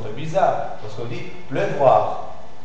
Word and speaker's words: pleuvoir: une chose un peu bizarre parce qu'on dit pleuvoir pleuvoir donc si c'est pleuvoir là tu commences bien